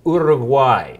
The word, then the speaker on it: Uruguay: the correct way to say far away is order of why especially if you're from Orem why can you